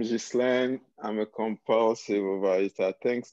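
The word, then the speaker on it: Ghislain: another name g h g-h-i-s-l-a-i-n how do you say that hi everyone i'm jislan i'm a compulsive advisor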